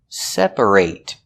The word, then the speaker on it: separate: When it's a verb, we pronounce it separate. Example, I need to separate my laundry. And the reason we pronounce it ate in the verb separate is because that syllable is stressed.